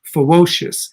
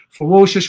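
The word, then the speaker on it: FEWOCiOUS: transgender artist named ferocious now i'm not trying to be funny and say ferocious but say it with a w that's how it's spelled f e w o c i o u s ferocious in the form of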